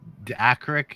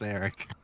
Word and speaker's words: Eric: any of my characters no it's Eric there's no ey Eric Eric Eric Eric